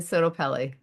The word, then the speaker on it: SottoPelle: Now, where can people find SottoPelle? Our website is SottoPelle Therapy, and I'll spell it because it's a tricky one.